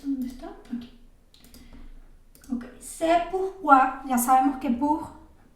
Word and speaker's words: pourquoi: Pero fíjense que pourquoi tiene exactamente los dos sonidos que vimos, ¿no? Pertenecen a esas dos familias de palabras. Tiene, aquí está, tanto la OU, que sería U, pour, pronunciando la R, pour, y OI, ¿ne? Quoi, pourquoi. Solo que aquí básicamente hay dos U, ¿no? Entonces pronunciamos solo una. Pourquoi.